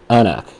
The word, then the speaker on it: anCnoc: And this one is called Anak. Okay. Or Anoch. Anoch. The pronunciation guide is on one of these boxes pronounced Anoch.